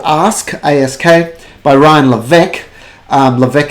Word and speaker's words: Levesque: Levesque has got a silent S in the middle there somewhere. It's kind of French with Q-U-E on there.